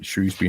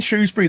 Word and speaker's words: Shrewsbury: kind of one liner there is no o in Shrewsbury it's all that's an age thing that's a that's an oldfashioned comes from old pronunciations of a town that's uh nearly a thousand years old it's cool um right